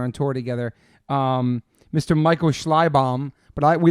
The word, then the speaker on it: Schleibaum: It's German. Sick. It was mangled by my ancestors who came over through Ellis Island. So it's not even the right spelling or the right pronunciation. It's not. But we're Americans. So that's how we say it. So how do you say it? Schleibaum. Okay, but I don't even know if Schleibaum. I'm saying it right. But that's how I say it.